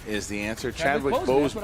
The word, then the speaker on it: Chadwick Boseman: Spell it. Chazwick Bondsman. What is it? What are you say? What are you saying? Chazwick Bossman. That's incorrect. Nothing. Chadwick Boseman is the answer.